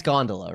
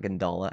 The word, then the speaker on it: gondola: say it oh God it's gondola right oh wait yeah I actually knew that I think I knew that not gandala I put the emphasis on the wrong syllable I'm sorry feeling any